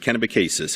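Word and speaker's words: Kennebecasis: recogniz Melissa young our candidate in St John kenev cases for those of you who are from away that might seem an odd pronunciation but that is how we pronounce it kenabicis it's a great riding and I know Melissa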